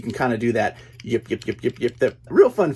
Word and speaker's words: Yip Yip: course the Sesame Street Yip Yap yip yip I always say it wrong yip yip aliens it's a two pack